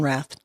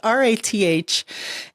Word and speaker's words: Rath: In the green room, I was telling you, I love your name, and it is indeed pronounced Rath, R-A-T-H, and you should be an action movie star.